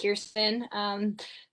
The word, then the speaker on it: Kirsten: So Kristen, after your introduction, we'll get into some questions. Hello, everyone. My parents are evil, and it's spelled Kirsten. It's pronounced Kirsten.